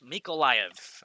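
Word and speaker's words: Mykolaiv: again uh correcting my uh miko mikolaiv make a live again i'm working on that one we'll get that one down pat don't worry miko mik olav miko live i'm pretty sure is the proper way to say that one pocket frog asks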